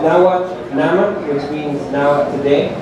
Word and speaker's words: Naman: So the application is called Nahuatl Naman, which means Nahuatl Today. The N at the end is not pronounced, and if you download the application, it's free on the Play Store already.